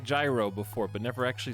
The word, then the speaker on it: gyro: loud this is murica it's gyro it's gyro around here excuse me then why is gyroscope like that it's not an american word it's not english okay it's greek the word comes from greek for turning which refers